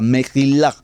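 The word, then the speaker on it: מחילה: La segunda palabra, Mejilá, Mejilá, se escribe Meshilá, Meshilá, se lee Mejí con J, Mejilá.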